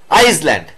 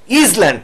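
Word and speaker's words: Island: বসছে এন আচ্ছা এন আইসল্যান্ড একই রকম ভাবে আই এর উচ্চারণ কি হচ্ছে ইজ ল্যান্ড না এন ইজ ল্যান্ড না আই আই আইস ল্যান্ড ঠিক আছে এটাকে বসলো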